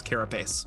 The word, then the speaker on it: carapace: what i can tell that's not technically correct i think it's carapace and that's how i'm saying it from now on because we goldie and